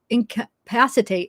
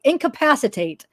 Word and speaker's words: incapacitate: punish me and can incapacitate incapacitate now it sounds better i was stressing the wrong syllable incapacitate her enough so